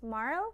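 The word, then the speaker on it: Marle: Oh, Marl, ka big thing, said silent E po. So it's Marl.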